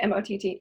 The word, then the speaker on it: Mott: Am I pronouncing Mott correctly? Okay, M-O-T-T, yeah, Mott.